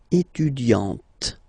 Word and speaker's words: étudiante: Okay, but then for the feminine form, elle est étudiante.